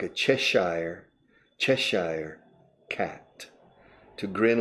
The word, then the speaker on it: Cheshire: To grin like a Cheshire cat. To grin like a Cheshire cat. Now the British could say Cheshire. The British say Yorkshire for Yorkshire. But I would say to grin like a Cheshire cat.